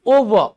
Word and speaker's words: over: इट्स नॉट ओवर, इट्स ओवर। क्या है ये, ओवर। आर के उच्चारण से बचिए।